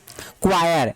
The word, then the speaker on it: choir: देखिए CHOIR, आप इसको, मैं जानता हूं कि आप इसको चोर पढ़ेंगे, जी नहीं, ये चोर नहीं है, क्या पढ़ते हैं, इसको पढ़ते हैं क्वायर, क्या पढ़ते हैं इसको, क्वायर। यहाँ पे क्या साइलेंट है, यहाँ पे H वर्ड साइलेंट है, और इसको हम